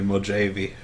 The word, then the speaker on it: Mojave: So in the meantime, how would you pronounce the name of the map? Is it Mojave or is it Mojave? Please, put some jalapenos on that pizza. You got it. It's definitely Mojave, no doubt about it.